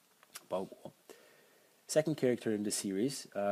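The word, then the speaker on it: 包裹: And you can find it in the common expression today, package or parcel, pronounced bao guo, bao guo.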